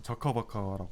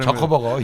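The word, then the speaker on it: 저커버그: 보통 저커버커라고 예, 하니까 좀 발음을 저커버거 예. 유념해 주시고 예.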